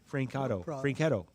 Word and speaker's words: Francato: I was putting an I in there, or an E. Francato.